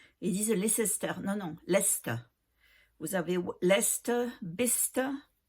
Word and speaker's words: Leicester: Non, non, Leicester. Vous avez Leicester, Bicester. Et tout ça, ça s'écrit avec Cester à la fin. Hein, mais on dit Ster, Bicester, Leicester, Gloucestershire.